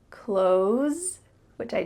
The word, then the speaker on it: clothes: And then we have close, which I just mentioned sounds a lot like close the door. Close the door. When native speakers are speaking a little bit slower, they might add a TH sound, clothes, clothes. You see how my tongue comes out a little bit for that TH? Clothes.